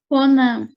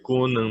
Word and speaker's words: Conan: não seria Conan, não? É porque o acento, o nome dele é Conan, não é Conan.